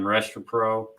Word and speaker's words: Restrepo: They got how do you pronounce his last name? Restrepo.